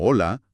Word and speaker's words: hola: La H es completamente invisible y muda. Te dicen que en palabras como hola, hora o hambre, tienes que finguir que esa primera letra simplemente no existe, a menos, claro,